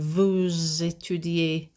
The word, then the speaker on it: vous étudiez: There's that liaison of sound. Vous étudiez.